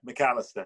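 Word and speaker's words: Macalester: as well as at, how do you pronounce it, Malacaster Or McAllister even, yeah, McAllister.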